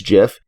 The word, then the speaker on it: GIF: Which is like the peanut butter and is a joke. Choosy developers choose GIF.